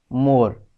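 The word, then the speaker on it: more: letter silent है तो यहां पर जो लेटर साइलेंट है वह है ई तो आप देखो इसकी स्पेलिंग है एम ओ आर ई बट इसे हम कैसे पढ़ते हैं मोर तो ई यहां पर साइलेंट है ई लेटर का कोई साउंड नहीं है नेक्स्ट इस वर्ड को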